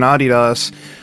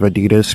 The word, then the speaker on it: Adidas: So then we have the penultimate track, Homeless Man in Adidas, which, yes, I'm going to pronounce it like that instead of Adidas because remember, I'm trying to become spiritually Australian, so I have to.